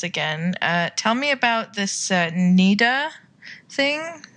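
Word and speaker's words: Niddah: Tell me about this Nida thing. Nida, am I pronouncing that right? Yeah, Nida is how it's, and that is a woman's impurity when she's menstruating.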